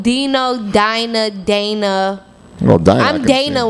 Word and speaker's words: Dina: D-I-N-A. Dina. Oh. Is it actually pronounced Dina? Yes. Okay. Dina? You call me Dana.